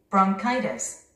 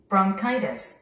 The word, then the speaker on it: bronchitis: bronchitis. bronchitis. bronchitis. bronchitis. bronchitis. 원어민들은 이 단어를 bronchitis. bronchitis. bronchitis. 우리 한국인들은 이 단어를 약 이름이라서 뭐 브론치콘 뭐 이렇게 발음을 합니다. 원어민들은 카이 스트레스가 있습니다.